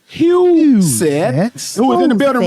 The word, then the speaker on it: Huseth: Let me tell you how to pronounce it. Huseth, who is in the building running for State Representative Tennessee District 97.